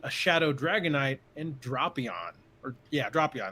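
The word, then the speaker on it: Drapion: Dropion, that's how they say it.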